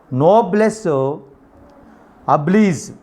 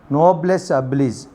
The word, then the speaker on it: noblesse oblige: This one is noblesse oblige. Noblesse oblige.